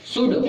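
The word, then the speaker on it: should: तो इसको इसका उच्चारण हो जाएगा टोटल का शुड। क्या पढ़ेंगे? शुड।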